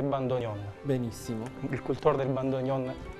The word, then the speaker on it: bandoneon: Che bellezza Parlaci del bando neon Me l'avevi promesso ci siamo lasciati in sospeso certo la pronuncia esatta del nome bando Gon Gon molti lo chiamano bandoneon bandoneon il la pronuncia esatta è bandonion benissimo il cultore del